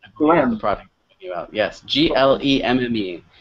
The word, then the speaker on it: glemme: How do you pronounce Glem? Glem. Glem. The product. Yes, Glemme.